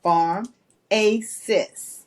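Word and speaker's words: Farmacists: group is Pharmacists and it's spelled f-a-r-m like Farm a sis I love because we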